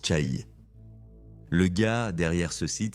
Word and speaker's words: Chaï: Je le prononçais comme maison de Z dans ma première vidéo. Après quelques recherches supplémentaires, j'ai réalisé que cela semblait incorrect. Ça se prononce Cha.